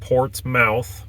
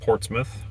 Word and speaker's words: Portsmouth: It's not Portsmouth, it's Portsmouth, commonly mispronounced by people from not around here.